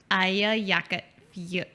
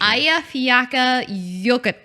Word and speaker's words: Eyjafjallajökull: But it's basically like Aya is island, right?